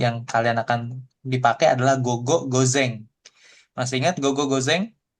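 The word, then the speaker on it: 五: Tapi bisa dibacanya go nanti keseringan nih untuk di N5, N4 Go.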